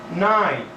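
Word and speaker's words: knight: For example, we have night and night.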